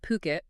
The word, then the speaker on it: Phuket: I saw one recently from Puket. That's P H U K E T. Gotta say it right.